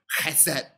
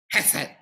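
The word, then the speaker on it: חֶסֶד: the Hebrew word is, I'm going to say it as correctly as I can, chesed. Chesed, right? Okay, chesed, C-H-E-S-E-D, or H-E-S-E-D, but the H is pronounced with a ch sound, right?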